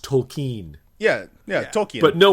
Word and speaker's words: Tolkien: i well cause like if you say token oh yeah jrtoken do you hear the l yeah but apparently we've been saying it wrong it's actually supposed to be pronounced tolkien yeah yeah tokyo but